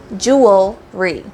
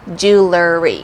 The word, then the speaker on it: jewelry: say it and so you want to say jewelry because you have the word Jewel and then Roi at the end jewelry jewelry I have lots of beautiful jewelry I want to have lots of beautiful jewelry but a lot of people including myself sometimes say jewelry so if you hear jewelry just know that it's actually not right it's supposed to be jewelry your wife's already gone